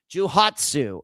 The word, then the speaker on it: Johatsu: Jouhatsu, at least that's how you say it in English, j o h a t s u.